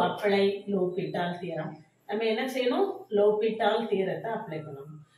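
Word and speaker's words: L'Hôpital: இதை எல் ஹாஸ்பிட்டல் rule அப்படின்னு வாசிக்காதீங்க தயவுசெய்து. இதில் வந்து H ஓ எல்லாமே எஸ் எல்லாமே நம்மளுக்கு என்னது? சைலண்ட். லோபிட்டால் தியரம்ங்கிறது தான் கரெக்டாக ப்ரொனவுன்சேஷன்.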